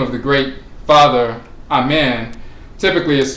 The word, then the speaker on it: Amen: So in ancient Kemet, sometimes there were different dialects, but typically the name is pronounced Amen. You have in Coptic, in some dialects, you have Amon, which, you know, passed